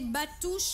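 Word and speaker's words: Bàttu: Des batous, voilà, parce voilà, que Maïmouna Touré vient de dire, ça se prononce, la grève des batous, chérie.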